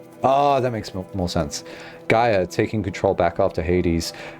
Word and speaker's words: Gaia: it before Gia oh that makes more sense Gaia taking control back after Hades has done its